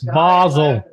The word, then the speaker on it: Basel: um town in Switzerland called basil b s Basel that's it's actually pronounced B Basel and that's fine I I